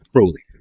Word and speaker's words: Crowley: Crowley rhymes with holy.